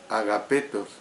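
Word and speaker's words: ἀγαπητός: La palabra griega que aquí se traduce por amados es una forma de agapetos, así como lo oye, agapetos, que procede de la palabra especial para amor, que es ágape.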